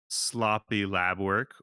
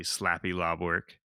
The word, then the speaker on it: Sloppy Lab Work: The next one we have is, uh, sloppy lab work, or, the correct pronunciation would be slappy lob work.